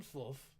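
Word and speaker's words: Slavo: to bar I am SL that is spilled with an S an l a v and an O the the O is silent me too nice to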